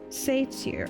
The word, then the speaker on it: satyr: I hate when I go like a whole stream and I'm pronouncing something incorrectly. Satyr.